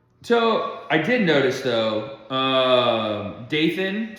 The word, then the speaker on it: Dathan: The Lord said to Moses, so I did notice though, Dathan, spelled like Nathan but with a D, and then Abiram, they brought their families out.